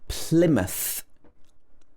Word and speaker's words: Plymouth: is similar as well plymouth plymouth this is not pronounced ply it should be pl first syllable is stressed plymouth it's also a